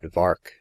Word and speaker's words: Vark: in the neighborhood that vark was made to rhyme with shark as emblematic of the